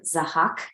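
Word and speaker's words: Zahhak: then when you were telling the story of zahak is that how you say it yes yes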